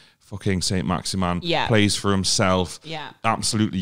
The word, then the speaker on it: Saint-Maximin: Alan Saint-Maximin. We were at the game. Is that how you say it? That's how he says it.